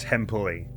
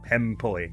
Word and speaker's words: Hempuli: Emily, was saying that I believe it's pronounced Hempuli. Or something closer to that than what I have been saying. The developer's name. Hempuli, I think.